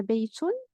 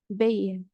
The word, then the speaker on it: بيت: Par exemple, ici, on a baytun, on ne peut jamais dire bay à l'oral. On peut dire bayt, toujours on prononce t à la fin, lorsqu'il s'agit de ta mabsouta, bien sûr.